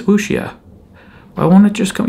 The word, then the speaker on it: wuxia: But it's a, what do you call it, wuxia?